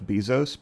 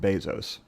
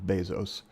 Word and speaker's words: Bezos: I've always called him Jeff Bezos. Probably because it's fun to say Bezos. Uh, but it's actually pronounced Bezos. Uh, his family is from Cuba originally and so it has the Spanish pronunciation of Bezos.